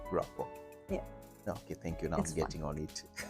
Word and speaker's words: Grapa: You told me to pronounce the name that way, Grapa.